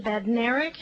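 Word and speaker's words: Badnarik: Mr. Bednarik, am I pronouncing it correctly? Yes.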